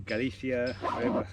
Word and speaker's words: Galicia: Like I say, we went towards the northwest, and in Galicia, I pronounced it right, we did have rain in Galicia, but only for literally a morning.